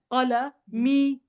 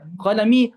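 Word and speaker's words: قلمي: Qalami. You should stretch it. You can stretch it. Qalami.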